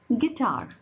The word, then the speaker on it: guitar: First you have guitar. What's the example here? Guitar. Your U is silent here.